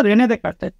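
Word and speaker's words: René Descartes: তো ওনার নাম হচ্ছে রেনে ডেকার্টে, রেনে ডেসকার্টে। ওকে, উচ্চারণটা হচ্ছে রেনে ডেকার্টে।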